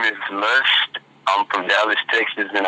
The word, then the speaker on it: Luxt: Hey, my name is Luxst. I'm from Dallas, Texas, and I'm an R&B artist. My name is spelled Luxt, and it stands for Lust Undertakes Soul.